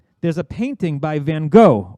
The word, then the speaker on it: Van Gogh: there's a painting by van gogh or pronounced van gaach according to the stories